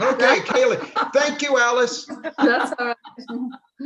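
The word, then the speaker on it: céilí: knew I pronounced it wrong. Okay, Kaylee.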